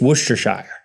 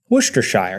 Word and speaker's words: Worcestershire: Worcestershire, but I think it's Worcestershire. Worcestershire, it's got shire on the end. It's not sheer.